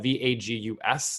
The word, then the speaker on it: vagus: don't really know that it's spelled v-a-g-u-s not like Las Vegas but uh vagus in in Latin which means Wanderer